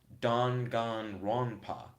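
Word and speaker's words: Danganronpa: white half black one Kel said is pronounced dangan ronpa dangan ronpa do you say it all together or separately your boy Ryan said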